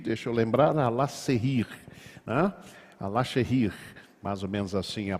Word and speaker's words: Alaşehir: Alaşehir, mais ou menos assim a pronúncia.